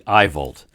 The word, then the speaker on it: AIVOLT: So I asked them how to pronounce that, and they sent something back phonetically, and it's actually AIVOLT.